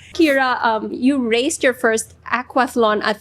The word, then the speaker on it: aquathlon: Kira, you raced your first aquathlon at 3. Is that how you pronounce it?